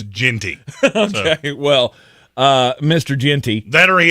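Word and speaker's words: Jeanty: I'm going to eat his liver with some fava beans and a nice apparently Gianti. He's been very dogmatic that it's Ginty.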